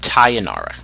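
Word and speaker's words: Tainara: Tae Yong Tae Yong Nara Titus like sayonara but taya Nara Conti she's also Brazilian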